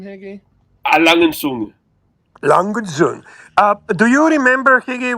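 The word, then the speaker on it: A. Lange & Söhne: And how do you properly pronounce the brand name, Higgy? Langenzunge.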